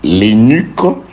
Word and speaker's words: eunuque: Et que l'énuque, c'est comme ça qu'on le prononce, ce mot-là, eunuque, l'énuque ne dise pas voici je suis un arbre sec, car ainsi parle l'Éternel.